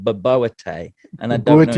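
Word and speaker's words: bobotie: She did a South African dish for me, and I want to pronounce this correctly because this is how she taught me, but it was called baboete.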